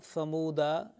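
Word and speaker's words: ثمودا: And type 2, where an excessive alif comes at the end of a word. For example, thamuda, you know, alif, and it is pronounced thamud.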